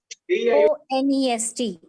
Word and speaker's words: honest: And An honest person. An honest person. Because even though the first alphabet is a consonant, it is silent, and therefore the first sound of this word is a vowel sound, o, honest.